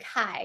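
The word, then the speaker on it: Cai: your last name DD Kai you can see D well trying to make it all you know but no it's C AI Kai so welcome in my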